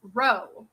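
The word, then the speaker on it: Ρ: is Christ okay and this P right here is pronounced row okay so xrp is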